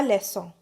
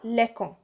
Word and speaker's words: leçon: Otherwise, they might have been pronounced as la lecon. But there is no such word like lecon. That will be a wrong pronunciation.